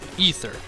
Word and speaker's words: Aether: and by the way the pronunciation for that is indeed ether I looked into it at any rate